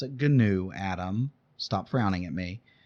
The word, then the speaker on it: GNU: is the gnu public license and yes i pronounce it gnu adam stop frowning at me um it is gnu the gnu public license um if you look